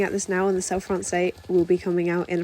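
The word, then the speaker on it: Selle Français: FR um or just self France say it's like saying ballet just because ballet has a t on the end doesn't mean you need to say it it's just cell France but again just say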